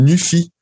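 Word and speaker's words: Nuphy: Alors, j'ai trouvé une compagnie qui s'appelle Newfy, pour le prononcer en anglais.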